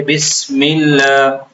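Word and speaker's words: بسم الله: سین کو سیٹی سے ادا کیا جاتا ہے. اس میں کسی قسم کی نرمی نہیں ہوتی ہے. بس نہیں ہوتا ہے بس بس. سین بھی عربی تلفظ کے حساب سے تھوڑا سخت ہے. سیٹی کی جیسی آواز آتی ہے بسم اللہ.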